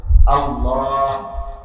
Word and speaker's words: আল্লাহ: দুই নাম্বার হইলো শুদ্ধ কর বা ঠিক মত উচ্চারণ হা ঠিক মত উচ্চারণ আল্লাহ শেষের হাল হা ছোট